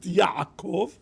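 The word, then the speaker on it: יעקב: One pronounced Yaakov, good, and one pronounced Yisrael, okay, good.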